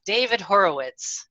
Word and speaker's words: Horowitz: But today on the line, I have David Horowitz.